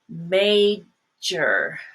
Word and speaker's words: major: Another word is major. Major. Now, some people pronounce that as mayor, which is actually a leader of a city.